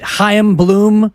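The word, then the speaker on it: Chaim Bloom: I but that yes I believe it's a in there like Larry a i m exactly exactly like it's Hanukah right and if he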